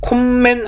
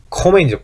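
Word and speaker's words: kommen: 자, 콤멘 하지 않는다 그랬어요. 콤멘 하지 않는다. 콤멘 하는 게 아니고 코멘이죠. 코멘.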